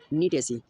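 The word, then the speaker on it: Gnetaceae: ठीक है, फिर फैमिली फर्स्ट क्या है, नीटेसी, जी साइलेंट है, नीटेसी, और नीटम इसका क्या है, एग्जाम्पल है।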